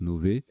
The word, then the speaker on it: novae: et ça se prononce novaes en fait un jeu d'innover pour pour bien distinguer les lettres ça se prononce novaes c'est le pluriel de nova finlande et de plurielles